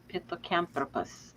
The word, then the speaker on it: Pithecanthropus: Pithecanthropus.